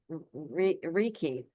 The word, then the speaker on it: Reiki: meeting in my home, and I was teaching Reiki out of the home.